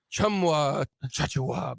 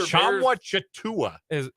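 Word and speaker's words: Tchamwa Tchatchoua: Chumwa Chachua back for the Baylor Chamwa Chatua. So it's not that. At least that's how the guy was pronouncing it on the call on ESPNU last night. He was wrong.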